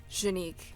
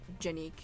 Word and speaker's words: Jeanique: that's right i think i said my name wrong in that third one shanique not jenik please don't it's not